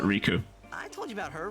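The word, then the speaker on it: Rikku: So she does pronounce it Riku.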